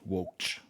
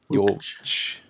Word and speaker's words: Wokch: You heard it here first. That's how you say it. Wokch. Wokch.